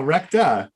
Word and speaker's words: Recta: because it's rupert's recta rupus recti or rupert rupert that's rough no recta r-e-c-t-a oh dear the show